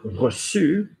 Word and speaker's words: reçu: All right, like the difference between the word reçu, received, yeah, and the Q, I've lived, hard C.